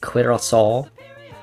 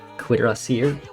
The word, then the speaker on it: Cuirassier: We've got Cuirassiers, or Cuirassal. Cuirassier is how I've always been told it's pronounced.